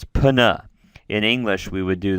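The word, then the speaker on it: πνεῦμα: And I should say, when you have a pi and a nu together in Greek, you pronounce those as two consonant sounds. Pana.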